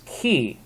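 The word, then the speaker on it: chi: again alpha row now the next letter is key okay our k so it's this one right here looks like an x but it's actually a key okay now um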